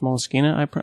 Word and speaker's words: Moleskine: It's spelled Moleskine, Moleskine, but it's pronounced Moleskine, I believe.